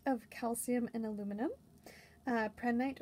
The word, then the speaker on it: prehnite: very tiny collection of prednite or pray night um it is a i know silicate of calcium and aluminum uh prednite or prenate depending on how you pronounce it crystallizes in the orthorhombic